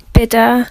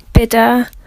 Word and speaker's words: bidder: So the t and the d are maintained in British speech in a way that they aren't in American speech.